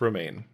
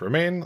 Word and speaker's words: Romijn: O M I J N, but it is pronounced Roma. She has uh stated that it's pronounced Roma like the lettuce.